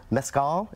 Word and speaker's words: mezcal: uh we have lime raspberry sorbet and then Mezcal is that's what that's how you say it